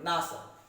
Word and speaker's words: NASA: अब खुद एक वर्ड बन गया नासा।